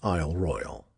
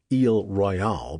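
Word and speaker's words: Isle Royale: Pronounce it is Royal. Eel Royale brands you an outsider and a fancy pants.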